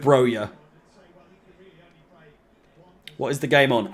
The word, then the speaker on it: Broja: It's 100% pronounced Broja. I've heard Broja. I'll go with Broja.